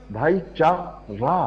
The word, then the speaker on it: भाईचारा: तो जो सही उच्चारण है, माफ करना, बहुत माफी के साथ, भाईचारा है। तो जब हम जल्दी में कहते हैं तो चारा निकलता है, ऐसा कुछ नहीं है।